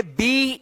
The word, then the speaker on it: be: बी ई बे गलत। क्या? बे गलत हो जाएगा। इसको आप पढ़िएगा बी। क्या पढ़िएगा आप?